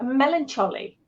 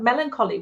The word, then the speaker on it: melancholy: I remember saying epitome for epitome, and hyperbole for hyperbole, and melancholy for melancholy when I was a kid.